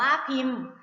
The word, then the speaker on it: พิมพ์: กา ลัง นะ คะ ยก ตัว อย่าง เช่น พิมพ์ พิมพ์ อ่าน ว่า พิมพ์ นัก เรียน คะ คำ